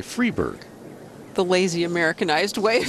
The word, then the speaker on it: Friberg: with us in hawaii we were pronouncing her name louise free buy which is technically correct in sweden but while she's over here nobody gets it right so she wants to go by freeberg the lazy americanized way